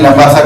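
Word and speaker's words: Labasa: उस्मानी मद की इसमें लंबासा का सफ़र पढ़ रहा था। इसकी जो स्पेलिंग है वो ये है एल ए बी ए एस ए ल लेकिन पढ़ाया तो जाता है लंबा सा सल्यूट और चांदगा इनसे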